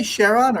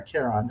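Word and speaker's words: Charon: and Do you say Cheron or Keron? How do you how is that? You can say it either way. Most Americans say Sheron.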